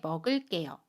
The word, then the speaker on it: 먹을게요: 을, 리을 뒤에 오는 개는 깨로 발음해요. 예문 볼게요. 나중에 먹을게요.